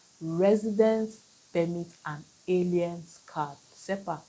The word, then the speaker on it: CERPAC: Expatrate quota and the SEPAC. SEPAC means combined expatriate residence permit and aliens card. SEPAC is spelled C E R P A C.